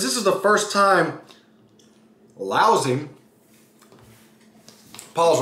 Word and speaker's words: Laozi: So, since this is the first time Laozi, pause right there, Laozi, L-A-O-Z-I, don't get the pronunciation wrong, comes from, and you'll see in the video that I attached in the story.